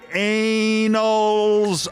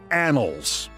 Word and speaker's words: annals: He said, "Of Iran, the operation that you ran will go down in the anals of American history." Senator I believe the word is pronounced annals. I think you meant anals.